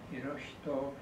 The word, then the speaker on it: Hirohito: He has unearthed much fascinating material about the role of the Showa emperor, known outside Japan as Hirohito, or in Japanese pronunciation, Hirohito, a name that is